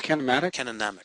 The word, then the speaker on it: kinematic: It's like cinematic, but with a K.